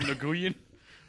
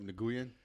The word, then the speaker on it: Nguyen: Vietnam and you like actually like hear the accent, they say it like very smoothly. They actually say Nguyen, but it sounds like Win.